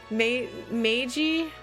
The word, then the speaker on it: Magi: where is it magi how is that word pronounced i should probably get that confirmed now before we progress further in the game meiji meiji okay meiji thank you yes